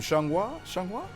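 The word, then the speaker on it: Xianghua: we've got how do you say her name shanghua that's that's perfect oh wow i didn't i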